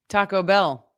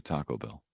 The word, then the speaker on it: Taco Bell: Taco Bell. Bell's the is the word that you hit in that. Oh, no. I hit the tacos when I'm going to Taco Bell.